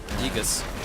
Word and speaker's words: Aegis: AE is pronounced E. Aegis.